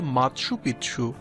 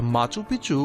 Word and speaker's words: Machu Picchu: কেউ এটিকে সূর্যনগরীও বলেন স্প্যানিশ ভাষায় এই শব্দটির উচ্চারণ হয় মাৎসু পিচ্ছু যার অর্থ প্রাচীন চূড়া তবে মাচুপিছু উচ্চারণ অধিক প্রচলিত ইতিহাসবিদ্দের